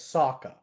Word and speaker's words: Sokka: It's Sokka. Oh, didn't know that. Yeah, I don't. They found a way to mispronounce basically every name.